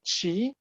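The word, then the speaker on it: Qi: map just south of the bigger principality of chi it's written q i but it's pronounced as if it's written d-c-h-i-g so on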